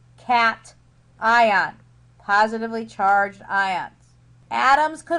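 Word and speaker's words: cation: ion that is not pronounced C it is pronounced cat ion positively charged ions atoms could also gain electrons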